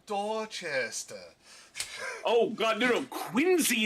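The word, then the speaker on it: Quincy: oh God no no quiny is the worst because it's spelled qu I NC y that c has a z sound what other word in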